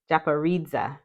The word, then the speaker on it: Japaridze: Japanese tarot okay yes has four syllables the accent is primarily on the third syllable and second Dairy secondarily on the last one Japanese okay yay look at